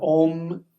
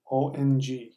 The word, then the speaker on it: Om: no difference it's that ohm is actually pronounced ohm Ong we can close your mouth as an M but it's that little dot you see above it that little dot is an NG sound Skyclad PHA question our